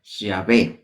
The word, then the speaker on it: Yah: a ya de hecho se dice que nosotros pronunciamos el nombre de Dios todo el tiempo que estamos respirando desde el primer momento que respiramos hasta nuestro último suspiro constantemente estamos pronunciando yah así pronunciando yah cuando